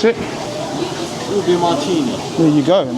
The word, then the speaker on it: ube: So how do you pronounce it? Ooh-Beh Martini.